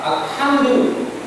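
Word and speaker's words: الحمد: simply H alham that it is pronounced with expulsion of air it has to be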